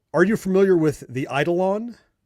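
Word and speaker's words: Eidolon: you're harvesting these different machines on the e i d o l o n.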